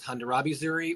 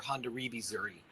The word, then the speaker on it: Hondarrabi Zuri: Lori um and you'll you'll see it pronounced and written in two different ways you'll see it as hondurabi Zuri or Honda ribi Zuri both are are technically